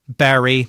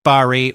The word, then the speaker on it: Bury: Some say berry rhyming with berry and others say barry rhyming with curry.